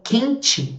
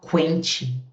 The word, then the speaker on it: quente: Frequente q U. Q U. O U é pronunciado. Agora em quente ele não é. Você não fala quente, quente.